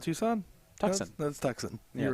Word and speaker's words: Tucson: pronounced Phoenix. and Tucson. Is it not Tucson? Tucson.